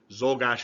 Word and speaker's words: Czolgosz: Czolgosz is how you pronounce that.